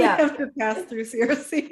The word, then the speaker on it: Circe: So I say Circe. Mhm. Before Madeline Miller's book came out, I always called her Kerke, which is like the Greek way to say her name in English.